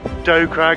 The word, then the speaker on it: Dow Crag: night of the day dow craig or doe crag as it's pronounced 778 meters 2552 feet